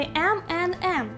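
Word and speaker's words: M&M's: Виявляється, вони M, N, M. Майже як Eminem, yo.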